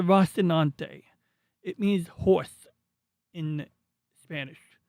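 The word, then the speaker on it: Rocinante: This is the Rasinante. I'm I'm saying it wrong. It's the Rastinante.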